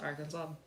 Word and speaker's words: Arkansas: the fact that like Kansas is pronounced Kansas and Arkansas is pronounced Arkansas so mad I was